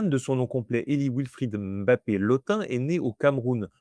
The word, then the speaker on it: Mbappé: Mb ce MB, ce n'est pas un M puis un B, c'est un seul son, un B qu'on prononce avec le nez.